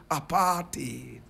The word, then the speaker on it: apartheid: people deeply rooted in what is known as apartheid correct pronunciation aparted my brother my sister now at the time